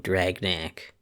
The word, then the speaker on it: Dragnac: And, the name Dragnac sounds cool and it rhymes with back.